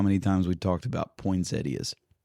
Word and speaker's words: Poinsettia: Poinsetta. Yeah. Poinsettia.